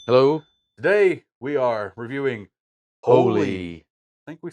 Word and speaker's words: Holi: is called holy and they give you a little in parentheses how you say it so it's h-o-e-l-e-e so that's how the game is pronounced holy here's an overview every